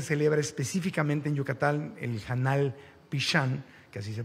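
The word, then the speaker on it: janal pixan: de cómo se celebra específicamente en Yucatán el janal pishan que así se pronuncia eh el es es algo fascinante el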